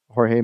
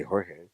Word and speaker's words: Jorge: There's not a whole lot of them out there, but they are out there calling Jorge Masvidal George.